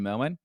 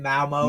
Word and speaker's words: Malmo: This is the first time I'm on with you, Melman. Am I saying it correctly? Yeah, Malmo.